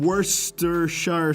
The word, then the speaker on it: Worcestershire: shit gets worse than Worcestershire sauce. That's literally it. The joke is that the first syllable in Worcestershire sauce sounds like the word worst.